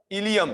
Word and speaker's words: ilium: चलो, तो related to this the इलियम, अच्छा ये स्पेलिंग में आई ही होगा, हाँ, ILIUM, ILIUM, इलियम।